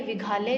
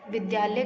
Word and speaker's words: विद्यालय: और करेक्ट क्या प्रोनाउंसिएशन होता है, क्या उच्चारण होता है, विद्यालय। ठीक है, तो ये गलत लिखा है, ये विघालय लिखा है, विद्यालय करेक्ट ऐसे लिखेंगे।